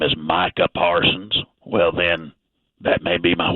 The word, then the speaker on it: Micah Parsons: Like, it's Micah Parsons. It's not Michael Person.